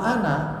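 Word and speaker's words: أنا: lafaz Ana di al-qur'an di atas Alif ada tanda lingkaran kecil ya bunder itu bukan sukun itu itu bermaksud bahwa alifnya harus ada tertulis tapi tidak terbaca makanya bacanya an itu pendek Ana pendek ya Oh berarti semua lafaz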